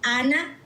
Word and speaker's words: Anna: In and it's in Spanish. So, how I pronounce it, it's Anna, but you can say it in the Okay, I'll I'll do Anna as well.